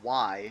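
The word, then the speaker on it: wye: But a Y, and I said Y interchange, that's not exactly the right terminology, but a Y, which is spelled W-Y-E, will actually turn a locomotive and a train around as a whole the same way as a loop will.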